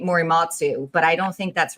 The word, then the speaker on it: Morimitsu: Morimitsu. Morimitsu. I very rarely pronounce my own name right.